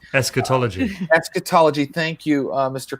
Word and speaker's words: eschatology: you have picked up on a lot of Shakeology am i pronouncing that right is scatology eschatology etiquette ology Thank You mr.